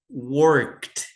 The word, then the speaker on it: worked: que terminam com ed, vocês não vão pronunciar esse e aqui. É como se ele não existisse aqui, ó. Então vocês vão pronunciar worked, como se não tivesse o e aqui, tá? Com esse som aqui, ó, de KT.